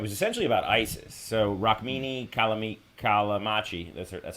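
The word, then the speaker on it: Rukmini Callimachi: uh and it was essentially about Isis so raki kamam kamachi that's that's how you say her name uh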